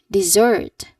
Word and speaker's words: dessert: Dessert. Dessert. Dessert. We had cake for dessert. Again, we had cake for dessert. Your turn. All right. That is correct. Great. Here that stress on the second syllable.